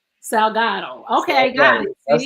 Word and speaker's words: Salgado: Salgado. Salgado.